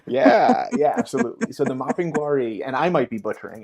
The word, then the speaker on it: Mapinguari: Mapinguari. Thank you. Yeah, yeah, absolutely. So the Mapinguari, and I might be butchering it, who knows,